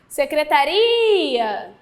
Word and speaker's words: secretaria: e não era ir não era para ir a secretaria apenas interfonar para secretária secretaria a sílaba mais forte é a última então a gente tem